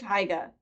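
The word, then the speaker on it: Haigha: His name is Higa. He pronounced it as so it rhymes with mayor.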